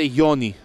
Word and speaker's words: Γιόνι: Το λάθος έγινε από τον Γιόνι, τον οποίο για καιρό αποκαλούσαν Γιόνι. Όμως ρωτήσαμε και μάθαμε ότι προφέρεται Γιόνι το παρατσούκλι του.